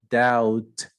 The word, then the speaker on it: doubt: don't speak the h doubt you don't speak the b foreign you don't speak